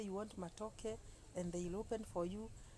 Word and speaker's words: matoke: likes matoke as there before she used to call it matoka then she's in news she came to be able to she was able now to pronounce the word matoke and uh I remember